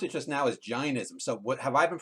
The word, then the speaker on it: Jainism: You pronounced it just now as Jainism. So what have I been pronouncing it wrong? It's Jainism, not Jainism? You're modern, and Jeff and I are old school. Okay. And the AI in Sanskrit is I.